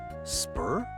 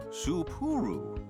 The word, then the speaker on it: Supuru: Welcome to the Supuru Hot Springs in Spur. No, three syllables. Supuru.